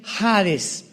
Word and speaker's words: Hades: la palabra Seol con Hades con h que muchos dicen jades se puede pronunciar así porque es en el griego y Cristo cuando él